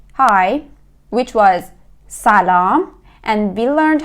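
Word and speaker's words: سلام: We will say salam.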